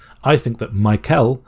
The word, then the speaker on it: Michael: I'm British, so I would often say Michael, which might be with the sound. But you could also just say the sound, so Michael.